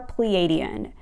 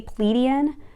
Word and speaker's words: Pleiadian: there's a good chance that you are pleiadian some people say pleadian so there's different pronunciations for it but yes